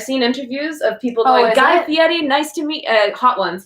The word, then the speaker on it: Guy Fieri: And unlike Guy Fieri, we've been corrected on how to pronounce his name, so I will pronounce it correctly now. Guy Fieri, we didn't get a copyright claim, so...